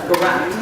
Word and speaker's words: Garot: Just like it's spelled, garage. Not carrot, but garage. Garage. R-R-O-T. Okay, you pronounce it. Present. Good morning, everybody. I'm Garot.